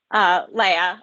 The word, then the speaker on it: Leia: Leia, I know it's Leia. spelled like Leah, so it's confusing.